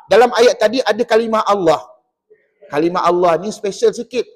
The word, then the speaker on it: Allah: ini tadi atiullah maka nama Allah tu dibaca apa tebal tebal dan tebalnya pada nama Allah itu adalah pada sebutan lam kerana pada ejaan Allah itu ada alif lam lam ha jadi lam di sini spesal pada sebab pada nama Allah maka kena baca te tebal begitu juga dengan ra